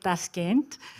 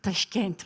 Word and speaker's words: Tashkent: that I think Greek I've been calling it Tashant but it's Tashkent right um with a Greek pres pronunciation a small gift for you.